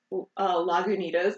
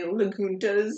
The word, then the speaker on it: Lagunitas: The beers get me to Lagunitas. They say Laguntas. Yeah, I had this guy who's like, I'll take the Lagunta.